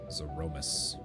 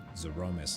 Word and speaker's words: Zeromus: I've always pronounced it as Zeromus, so Zeromus has thrown me off.